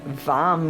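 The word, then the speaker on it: वं: wake it up and vam with a V vam is the one syllable Sanskrit mantra visualiz ing orange BM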